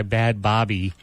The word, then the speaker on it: Bhad Bhabie: played a song that we said was by bad Bobby and because it's spelled BH a DBH a bie of anybody